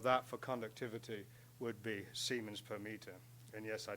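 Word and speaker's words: siemens: the reciprocal of that for conductivity would be semen per meter and yes I do pronounce that correctly um if you want to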